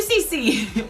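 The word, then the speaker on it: C.C.: So thank you, CC or C2. Apparently it's pronounced C2, but it's really hard to reprogram our way of saying things. So it might stay CC.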